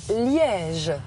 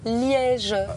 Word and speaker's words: Liège: amusez vous allez voir c'est miège annoncé litige ça a toujours été liège ça s'écrit pen y